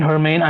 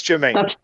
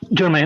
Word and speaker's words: Jermaine: Like It's Jermaine, by the way. It's Jermaine.